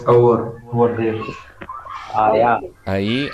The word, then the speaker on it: ahí: Ahí, And how do you pronounce the first one?